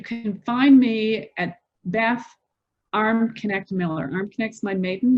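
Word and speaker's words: Armknecht: through linkedin you can find me at bath arm connect miller arm connects my maiden name and it's spelled a r m k k-n-e-c-h-t so beth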